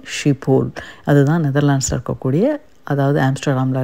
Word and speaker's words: Schiphol: SCHIPHOL இது வந்து ஷிப்போல் அப்படின்னு சொல்கிறாங்க. ஷிப்போல் அது கூட கரெக்டானு தெரியல. ஆனால் மோரலஸ் இந்த ப்ரொனவுன்சியேஷனுக்கு மேட்ச் பண்ணியிருக்கேன். ஸோ இந்த ஏர்போர்ட்டோடைய பேர் வந்து ஷிப்போல்.